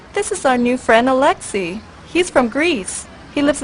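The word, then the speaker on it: Alexi: Well, it's pronounced Alexei, but it is spelled A-L-E-X-I.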